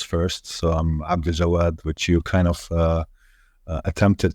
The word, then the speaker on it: Abdaljawad: So I'm Abdaljawad, which you kind of attempted to pronounce, but at the same time, people call me.